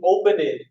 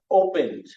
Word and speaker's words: opened: you smile du smiled or open which takes that n so you didn't open it a mail you opened some male open D opened or kill once again